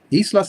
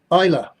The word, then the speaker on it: Isla: Isla says it is pronounced Ayla. Stop mispronouncing my name.